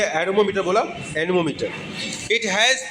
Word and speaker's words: anemometer: एरोमोमीटर, ठीक है, एरोमोमीटर, ठीक है, एनीमोमीटर। प्रोनाउंसिएशन क्या है? एनीमोमीटर। एरोमोमीटर मैंने बोला, सॉरी, एनीमोमीटर, ठीक है।